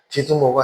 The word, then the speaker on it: 디두모: 그 도마가 아람어머어식 발음이고 디두모가 헬라어식 발음입니다.